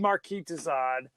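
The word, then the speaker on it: Marquis de Sade: like okay we said Marquee Dad yeah which I'm sure I'm mispronouncing his name Marquee dad like like sadism that's where they you get sadism although I will tell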